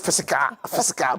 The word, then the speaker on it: fiscal: you use fiscal policy, I always used to think it was the word physical, and they couldn't pronounce it well. Until later I found that it was FIS. Yeah. But it's fiscal policy, So sometimes people's